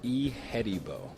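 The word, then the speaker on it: Ihedigbo: about first of all give us the proper pronunciation of the last name it's e hedibo all right yeah james e hettibo get used to it he's going to be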